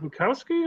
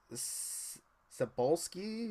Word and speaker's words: Cebulski: Bukowski or? It is. It's the first two initials are CB, and then it's like Cebulski, Cebulski. Okay, I'm not familiar with his work, but okay.